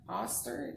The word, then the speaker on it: Oster: had see and it's a oster oster that's how you pronounce it i'm not sure how